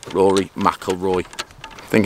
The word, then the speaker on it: McIlroy: finish like him so basically i am rory mcauley i can't even say his name rory mcilroy i think it's just held in the left